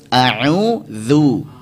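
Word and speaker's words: أعوذ: A'udzu.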